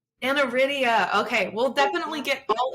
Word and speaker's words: aniridia: is an active volunteer I hope I'm pronouncing this correctly we'll get all into this particular organization it's the AFI or the anaria foundation International did I say that correctly JJ it's anaria anaria okay we'll definitely get